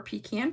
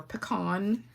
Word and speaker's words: pecan: The next size up is 5 1/4 by 4 pecan pie, or pecan, depending on how you say it.